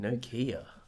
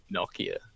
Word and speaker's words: Nokia: Nokia. Nokia. How do you say it, Harry? Nokia. Yeah. Yeah, Nokia. Okay. No, I don't think any American would pronounce that spelling with like a nah sound.